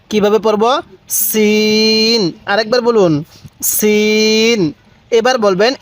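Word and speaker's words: سين: হ্যাঁ এই হরফটির উচ্চারণ সিন কিভাবে পড়বো সিন আরেকবার বলুন সিন এবার বলবেন এই হরফটির উচ্চারণ কিভাবে পড়তে হবে হ্যাঁ সিন সিন তাহলে সিন তাহলে সিন হ্যাঁ সিনের উচ্চারণটা অনেকটাই চিকন আকারের হবে দেখুন সিন আমার সাথে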